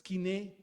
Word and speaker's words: koiné: Algunos le dicen koiné, pero es kiné.